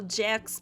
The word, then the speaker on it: Jacks: for convenience we'll call Jax because that's his birth name apparently. It's not a mistake in my pronunciation, there's actually an S at the end of Jack, so yeah, he's called Jax.